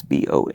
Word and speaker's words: Bongiorno: I feel like I need to say like an Italian accent. Buongiorno. Could be Buongiorno? I don't know. But it's Bongiorno.